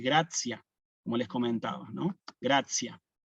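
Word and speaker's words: gratia: Ahora, en Gracia, en Ave María, Gracia, ahí sí, si yo tengo la T con la I y una A, ahí sí cambia la pronunciación y voy a decir Gracia, como les comentaba, ¿no?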